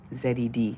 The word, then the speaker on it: Z: In Canada, we say A-Z. Z. Z-E-D. That's how you pronounce it.